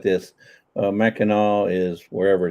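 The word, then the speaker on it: Mackinac: speaks with her hands I'm telling you it's Mackinaw I don't care if you spell It Mac no it's Mackinaw I thought that was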